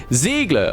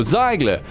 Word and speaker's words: Ziegler: is the combat medic Ziegler or Zeigler however which way you want to pronounce it it is a legendary